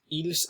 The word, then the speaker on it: ils: the last one is ils and elles. Now it's important to note that this S is not actually pronounced, so it would be il and elle, but just for